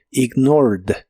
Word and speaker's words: ignored: termina con e d Aunque solo se pronuncia a la d ignored ignored y en el pasado lo